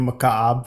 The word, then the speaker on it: Mukaab: The new Mukaab, which is how you say it, also fun to say.